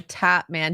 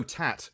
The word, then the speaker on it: Tatman: looks like Tim the top man does he actually tap dance no tat as in tattoo oh I've been hearing his name wrong the entire yeah it's cuz he's